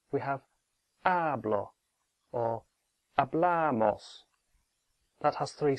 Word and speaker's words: hablamos: have our blah or a Blair Maus that has three syllables a Blair Maus so the stress is on the penultimate one hablamos no matter how quickly said a blah MOS in the yo form